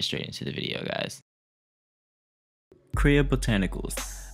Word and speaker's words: Kriya Botanicals: Kriya Botanicals, that's the pronunciation, that's what I'm gonna be using today.